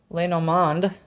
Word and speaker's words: Lenormand: got okay I'm just going to pull some Leno mond that's how you pronounce it cards pull two of these they're